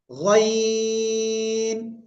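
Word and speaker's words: غ: এই অক্ষরের নাম কি গাইন তিন আলিফ টেনে উচ্চারণ করতে হবে কয় আলিফ তিন আলিফ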